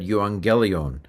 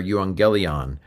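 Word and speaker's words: εὐαγγέλιον: But basically it said Yuangelion or Yangelion. That's the Arasmian pronunciation. The way this dictionary form was probably pronounced at the time of Jesus in Judeo Palestine was something like ephangelion uh ephangelion.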